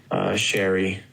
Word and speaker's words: Shiri: Just Sherry, S-H-I. It's actually spelled Shiri, but she's like, no, it's pronounced Sherry.